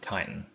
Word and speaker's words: chitin: Anyway, I used to call that chitin, but it's pronounced chitin.